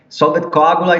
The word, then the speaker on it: Solve et Coagula: For the next track, could you please pronounce it for me? Called Solve et Coagula. It's like Solve et Coagula.